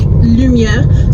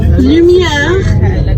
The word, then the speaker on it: lumière: So if you ever see something that's spelled just with a U, like lumière, so you pronounce it like this, U. So you purse your lips.